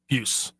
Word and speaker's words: Pius: because the Hockey Reference phonetic spelling is all capital letters PYOOS. So you're supposed to kind of hit it one syllable. Puce.